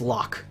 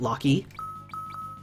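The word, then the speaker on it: Locke: breath hate your face lock is pronounced lock okay light curtain There's real people with the name lock is both person surnames and said lock cool all right that is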